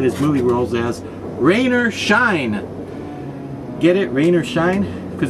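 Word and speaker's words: Scheine: Because his first name really is Rainer, that's R-A-Y-N-O-R, I think, his last name, he has it spelled like it was German, so it's S-C-H-E-I-N-E, I think. Rainer Shine, come on, that's a great joke, isn't it?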